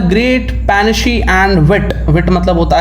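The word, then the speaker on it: panache: पेनशे इसको प्रोनाउंस करते हैं। पेनशे।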